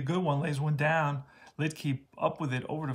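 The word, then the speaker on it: Luetge: So his name is Lidke, that's how you pronounce it.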